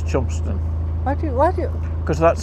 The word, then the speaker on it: Chelmondeston: Chelmondeston Lock. That's not how you say it. No, it's Chumston.